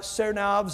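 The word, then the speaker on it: Tsarnaev: brother there's two brothers the Sarah Sarah knobs I think is how you say it t-s-a-r-n-a-e-v these two boys immigrants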